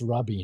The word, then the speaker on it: Ruby: It's pronounced Rubby, not Ruby.